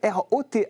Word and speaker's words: Rauth: lui plaisait pas donc j'ai mis au pour que les gens prononcent rot voilà et maintenant c'est